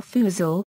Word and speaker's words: forecastle: Pronunciation the sync clip of the word f or fuzil is common among nautical terms but the position of apostrophes is not universally agreed.